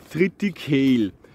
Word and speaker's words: Triticale: triticale oder wahrscheinlich auf endlich richtig ausgesprochen triticale und ordnung diese mischung aus weizen und roggen weizen ist kritik um da kommt das trio und trocken ist sieg alle da kommt kalle vertritt halle oder triticale her und ist teilt